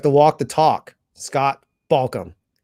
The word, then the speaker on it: Balcom: You have to walk the talk, Scott Balcom. Is that right? Balk, talk, walk, chalk.